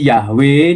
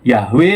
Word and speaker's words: Yahweh: Inilah mengapa vokalisasi Yahwe diyakini banyak sarjana modern sebagai rekonstruksi yang paling otentik. Bukti transkripsi Yunani kuno Yabe ini menguatkan hipotesis bahwa Yahwe memang paling dekat dengan pengucapan asli yang Musa dengar dari